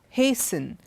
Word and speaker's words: hasten: we have T pronounced even in words like Christmas listen hasten softened none of these words do we have T and look at the